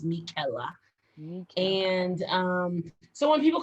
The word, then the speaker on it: Michela: your full name so my full name is pronounced michela okay not michaela to be that is mickela and um so when